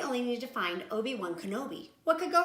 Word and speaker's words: Kenobi: oh TV no no it is pronounced Kenobi oh okay r2d2 and